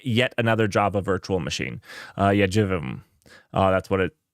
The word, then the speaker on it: JVM: Jivim. That's how you pronounce it.